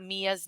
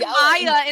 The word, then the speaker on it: Mia: write us one star because I said Maya instead of Mia and then corrected myself I'm over this how do